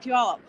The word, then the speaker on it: Puyallup: don't like my explanation you say pew like it smells and up oh yes there you